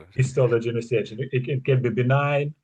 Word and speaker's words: histology: Uh maybe I I pronounce it. No, you're spot on. That's exactly how it said hisystology.